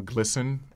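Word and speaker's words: GLSEN: a great organization uh glisten uh organization you can go to glen. org um it's G LS n um took me a long time get used to the right pronunciation for that acronym but uh but glisten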